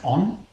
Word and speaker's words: On: Now, Ohm is to do with the city, and it is pronounced On.